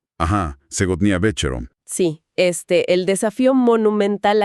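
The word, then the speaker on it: Сегодня вечером: Esta noche, que bueno, en ruso se pronuncia algo así como Segotnia Becharom. Ajá. Segnia Becharom.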